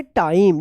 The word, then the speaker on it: time: टाइम। देखिए इसमें जो है ना आई का उच्चारण नियम है और ई जो है ना लास्ट में साइलेंट है।